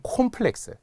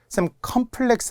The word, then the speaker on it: 콤플렉스: 우리 학생분들이 좀 헷갈려하는 콤플렉스 컴플렉스 아닌가요 어 열등감 같은 거 아닙니다 원래 발음이에요 렉스야 됩니다 또는 콘텐츠를 컨텐츠라고 하는